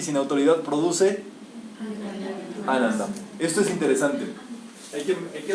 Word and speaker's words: Ananda: Sat Chit Ananda. Sat quiere decir ser. Chit, conciencia. Y Ananda, bienaventuranza. muy bien. Ahí Ananda lleva acento en la primera.